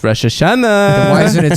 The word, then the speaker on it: Rosh Hashanah: why do you say it like that it's Rosh Hashanah why isn't it spelled Rosh Hashanah why is it spelled Rosh Hashanah it's spelled Rosh Hashanah Rosh Hashanah good job